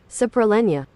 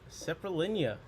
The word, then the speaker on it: Saprolegnia: Pronounce. Okay. Saprolegnia. Saprolegnia.